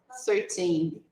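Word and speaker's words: thirteen: 13. 13. Isso. A sílaba forte é a última.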